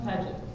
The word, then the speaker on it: Paget: How do you say the middle one? Paget. Paget. Okay, I didn't know if you did the French or not on that.